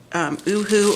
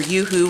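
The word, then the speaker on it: UHU: So I can attest for other brands of glue sticks, but I can tell you with the Oohoo or Yoo-hoo, whatever, I've heard it pronounced both ways.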